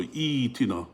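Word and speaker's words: ائتنا: then what happens is there's a kasra here, so you have to begin with a kasra over here, e, and then this Hamza sakina becomes a ya, so e tina, that's how you'd say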